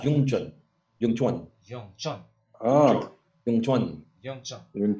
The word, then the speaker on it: Wing Chun: It's like instead of like doing the hard W's, just call it like Yung Chun, right?